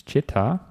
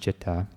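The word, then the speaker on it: citta: Picture would be chitra, mind just chitta. But in Pali they are the same. They're technically different words, but they're pronounced the same. So he says, the mind, the chitta, is even more diverse than that picture, the chitta.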